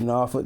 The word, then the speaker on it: Norfolk: an hbcu undergrad uh norfolk state university i pronounced norfolk right is that norfolk we call it norfolk down there okay hopefully i was close enough